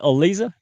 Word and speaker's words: Aliza: Is it Aliza?